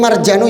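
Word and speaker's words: المرجان: Tapi ini marjanu ya enggak bukan marjan bukan itu yang panjang itu bukan. Ini marjanu ikut wazan maf'alun.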